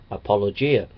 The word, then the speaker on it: apologia: word apologetics comes from the Greek word apologi pronounced apologia it means a verbal